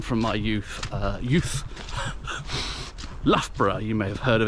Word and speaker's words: Loughborough: my youth uh youth Loughborough you may have heard of it in the Midlands near Leicester it has the sequence ough in it twice l-o-u-g-h-b-o-r-o-u-g-h the first one is pronounced oh the second one is